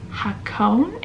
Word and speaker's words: Hakone: was my last video and now I'm in hakone if I can pronounce it correctly h-a-k-o-n-e I can put up